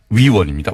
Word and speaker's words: 위원: 의원이 아니고요. 위원입니다. 위원.